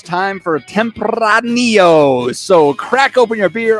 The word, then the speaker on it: Tempranillo: other thing is uh Tempranillo does not have a double r so you don't roll it oh there you